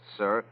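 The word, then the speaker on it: Cyr: I believe it's pronounced sir of Westport, Connecticut.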